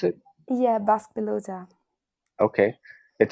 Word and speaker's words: Basque pelota: Is that how you pronounce it? Yeah, Basque Pelota.